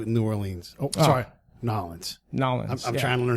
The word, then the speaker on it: New Orleans: Sorry, Nolens. I'm trying to learn how to say it right. There you go. I'm such a white dude. I'm like New Orleans.